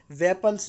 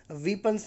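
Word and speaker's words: weapons: हथियार भी छीन लिए, वेपन्स भी उनसे छीन लिए। इसको आप बोलते हैं गाइज वेपन्स, वीपन्स ना बोलें, रॉन्ग प्रोनाउंसिएशन होता है, आपको बोलना है वेपन्स।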